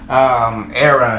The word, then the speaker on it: Era: I know her first name is pronounced Era, but is it Istrefi Bonbon official video?